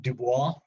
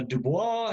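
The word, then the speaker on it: Du Bois: name of uh W.E.B DuBois that's franchise American but uh he's got French ancestry so that's how you pronounce his last name um and uh William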